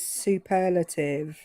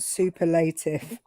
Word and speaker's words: superlative: Um the she when they gave her her lesson feedback uh they said the way you pronounce that word is superlative not superlative.